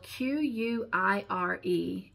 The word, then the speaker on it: quire: The ninth interesting word in the English dictionary, it is spelled Q-U-I-R-E, and it is pronounced quire.